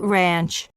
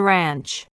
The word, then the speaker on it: ranch: slips ranch and lunch don't say i'm at the lanch or let's eat ranch instead say i'm at the ranch and let's eat lunch don't say instead say